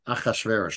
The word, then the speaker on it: Achashverosh: Achashverosh, that's the pronunciation in Hebrew.